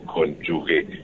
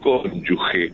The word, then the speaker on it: cónyuge: que te va diciendo, no se dice cónyuge, es cónyuge, porque no hay U, pero mejor.